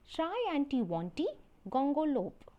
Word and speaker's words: Triantiwontigongolope: begin with this poem let's get the pronunciation of the title that is try auntie wantee gongo lo so the word is shy anti-wanti gongolope now it's time to